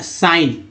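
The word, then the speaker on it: sign: जी एन है तो है ना साइन, साइन। नेक्स्ट देखते हैं, जी साइलेंट था।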